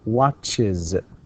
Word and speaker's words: watches: So we say watches. Watches. Even if you try to pronounce it without the I before the Z, you can't.